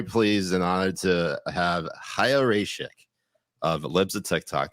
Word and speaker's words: Chaya: And also, can I just say, I will lash him 30 times for getting your name wrong. We were talking about this earlier. It's Chaya. Chaya.